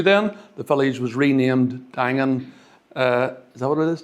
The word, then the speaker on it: Daingean: Is that how you pronounce it? Dangan. Daingean. Yes. Dangan.